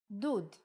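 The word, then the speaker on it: דוד: like ooh for example if we take the same letters from David and instead of we add shruk it will be dud electric water heater perhaps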